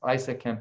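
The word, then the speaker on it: ISAKMP: what isa camp and it's pronounced isa camp everybody is used for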